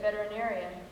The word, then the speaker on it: veterinarian: first lessons was that veterinarian has six syllables and ought to be pronounced that way afterward things got even